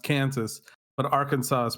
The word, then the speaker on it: Arkansas: And the answer is that Arkansas is the French pronunciation because it was a French territory.